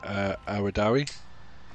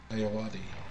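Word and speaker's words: Ayoade: And he paired with Richard Awadawi. Yeah. Awadi. Awadi, thank you. I always pronounce his name wrong.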